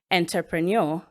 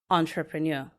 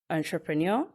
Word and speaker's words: entrepreneur: Now, many people would call that word entrepreneur. Some would also call it entrepreneur. Some would also say entrepreneur. But the correct pronunciation is entrepreneur. Pronunciation once more, entrepreneur, entrepreneur.